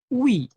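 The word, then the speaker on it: ㅟ: Nah, tapi kalau sebaliknya nih, nah garis huruf yang tidurnya itu huruf U. Garis yang berdiri itu huruf I. Dibacanya adalah WI. Gitu ya. Jadi U dan I dibacanya wi.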